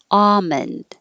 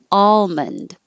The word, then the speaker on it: almond: always use ah and you can say it with the l or without the l almond or with the l almond but the dictionary had a